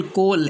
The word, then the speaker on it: coal: अगर ओ के बाद ए आ जाए तो ए क्या रहेगा? साइलेंट रहेगा। जैसे कि पहला वर्ड्स है बोर, BOAR बोर, यहाँ ए साइलेंट है।